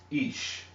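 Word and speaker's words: אִישׁ: When you begin to add, your dots, it makes this says this is also pronounced ish. Ish.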